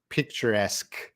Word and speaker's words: picturesque: laughs foreign cat asked how do we pronounce the q-u-e sound that's gonna be a like a k sound so if you have a word like question picturesque that's like a k